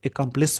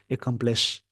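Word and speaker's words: accomplice: इस वर्ड का जो प्रोनाउंसिएशन है, प्रोनाउंसिएशन इसका जो होगा एकम्प्लिस होगा, और इस वर्ड का जो प्रोनाउंसिएशन था एकम्प्लिश।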